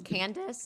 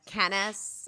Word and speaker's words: Candace: pronounce things correctly like my name is candace and she says canis and everything is like